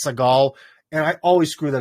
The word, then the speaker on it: Seagal: um the problem is in russia is called steven siegel almost like pronounced like seagull like the bird but in english he's uh he's seagal and i always screw